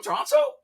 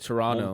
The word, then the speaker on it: Toronto: Well, I know they pronounce it Toronto, Montreal. not with the second T.